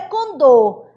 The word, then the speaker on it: condor: Condor. A mesma coisa, ele fala assim, condo, mas o certo é condor, tá bom, Amadinho?